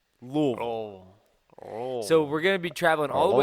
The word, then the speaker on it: Louisville: Everybody says Louisville or Louisville. It's Louisville. Louisville.